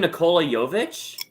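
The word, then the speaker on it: Nikola Jović: Nikola Jovic. Jovic, bro. You said it right the first time.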